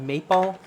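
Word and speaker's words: Mepal: from a company called mapal that's how we pronounce it in Dutch you probably pronounce it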